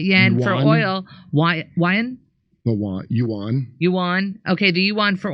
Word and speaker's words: yuan: The yuan.